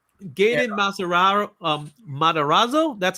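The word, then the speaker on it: Matarazzo: Um, Madorazzo.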